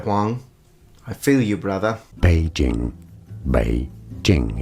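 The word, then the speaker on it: 北京: Beijing. Beijing. It's easy once you know. Beijing. And now you know. It's not Beijing, it's Beijing. Beijing, third, first.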